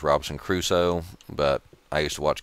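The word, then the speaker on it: Robinson Crusoe: just watched television for a while it was Robinson Caruso I know it's pronounced Robinson cruso but I used to watch Gilligan's Island as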